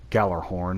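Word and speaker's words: Gjallarhorn: the second ability the galler horn i gotta remember that the j isn't uh pronounced uh uh you uh you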